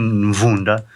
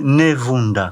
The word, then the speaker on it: Mvunda: mas é curioso porque o M, que fica atrás do B, do K e de outras consoantes, o europeu não consegue pronunciar. Então, tanto é que o primeiro embaixador africano no Vaticano, que foi Dom Antônio Mvunda, ele escreve Nevunda, com E. Dom Antônio Nevunda, o Negrita, que o corpo ficou lá sepultado no Vaticano até hoje. Porque é difícil eles pronunciarem certas consoantes.